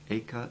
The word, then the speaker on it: Acre: The English land measure acre is pronounced to rhyme with baker, as also is the name of the ancient port of Acre in Palestine.